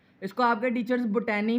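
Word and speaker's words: botany: याद रखना है कि पौधे जो हैं वो बॉटनी में आएंगे। ये बूटे से आपने याद रखना है कि बूटे कहाँ पर आएंगे, बूटनी में। ये लफ्ज़ बॉटनी है। इसको आपके टीचर्स बोटैनी भी पढ़ाएंगे, कुछ आपको बच्चे भी स्कूल के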